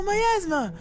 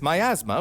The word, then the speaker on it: miasma: an oppressive or unpleasant It's spelt nearly like asthma, guys. atmosphere which surrounds or emanates from something. Oh, miasma! That's like concentrated bad vibes, right? Yeah, kind of. This miasma was Like my asthma.